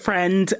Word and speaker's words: Friend: michelle dockery and rupert was it rupert fringe is that you pronounce his last name yeah rupert friend and sienna miller as